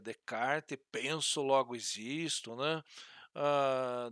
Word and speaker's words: Descartes: é o próximo redecard nós escrevamos Descartes né mas se pronuncia de kart penso logo existo né